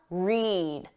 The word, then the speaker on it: read: When the pronunciation is that long sound, read, eed. That's for the infinitive, to read, or the base verb, read.